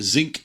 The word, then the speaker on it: Zynq: Xilinx has a Zinc series, ZYNQ is how they spell it, that has ARM processors and stuff like that in there.